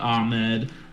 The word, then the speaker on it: Ahmed: Savine Ahmed, looks like Ahmed, pronounced Ahmed.